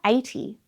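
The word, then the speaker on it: eighty: For example, the number 80, it's spelled E-I-G-H-T-Y, but the sounds that you hear either side of the T, A, it's your A diphthong. A, T, E, your long E sound that's in feet.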